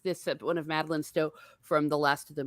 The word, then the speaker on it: Stowe: and I always feel very self-conscious when I'm pronouncing names, Scandinavian names, because I'm horrible at it. And Madeline Stowe, right? Stowe, thank you.